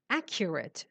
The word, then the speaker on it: accurate: Accurate, Shireen. What does accurate mean? Highly accurate. No, not accurate. Accurate. The stress is on the first syllable.